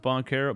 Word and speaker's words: Banchero: It's pronounced Banchero.